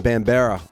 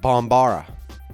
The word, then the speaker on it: Bambara: blaze potato Brooklyn's own Bam Berra for Bambara which I believe is how it's actually supposed to be pronounced in any case haven't